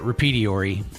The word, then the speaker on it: repertoire: that you know Dan it's pronounced uh repediori I'm sorry you you said repertoire whatever yeah yeah the American version yeah so yeah no